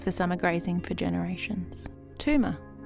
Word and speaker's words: Tooma: Tooma, or Toomba, Toomba, as it's pronounced in Ngarrigo, it's got a B in it, means Mother Earth.